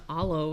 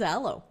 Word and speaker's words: Alo: They got some bougie on Alo and all that Oh, is that how it's pronounced? I don't know. I think so. I thought it was Aloe. That's how it said.